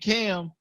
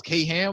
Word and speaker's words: Kham: I thought it was K Ham or something like that. I was tripping. I was like, K Ham, and it was like, nah, it's pronounced Kham, like CAM.